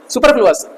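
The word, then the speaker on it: superfluous: आपका ये एरर है लेकिन कैसा एरर है सुपर फ्लोस सुपरफ्लुअस सुपर फ्लस की स्पेलिंग क्या है सुपर एफ एल यू ओ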